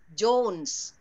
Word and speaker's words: Jones: Jones?